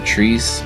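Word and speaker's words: Tresé: game is developed by the trees Brothers I believe that's how you pronounce it t-r-e-s-e it's a very fine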